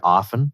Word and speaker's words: often: mine is the letter t in the word often is silent unless you're in the uk or sometimes